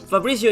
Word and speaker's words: Fabricio: I'm sorry why not it's easy it's like Fabrizio yes like this with my Polish accent I cannot pronounce anything correctly don't worry you say correct I just don't wanna like embarrass myself Fabricio is right it's right you're like